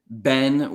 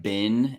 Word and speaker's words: been: second one and you say Ben with more of like a a like an open e sound yeah that being said if in American English like bin as in like a trash bin type pronunciation is completely I would say standard as well okay so Ben Ben are both definitely like acceptable in American English and actually I'm happy